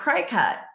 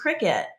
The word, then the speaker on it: Cricut: r i c and for years I was pronouncing that cry cut and when I was talking to her I'm